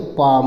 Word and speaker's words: palm: तो आगे चलिए देखते हैं PALM, तो PA से पापराग मात्रा पा हो जाएगा और यल साइलेंट हो जाएगा, मा खाली ले जाएगा, तो पाम हो जाएगा।